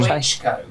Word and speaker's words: Klitschko: Klinchenko, or what is his, how do you pronounce his last name? Very Ukrainian last name. Yeah. Very Ukrainian last name. Klitschko.